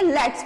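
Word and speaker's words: let's: Next word देखते हैं लेट अस, इसको कैसे बोलेंगे, लेट्स। तो यहां पर क्लियर क्यों नहीं करना है, क्योंकि यहां पे एपिस्ट्रोफी दिया हुआ है।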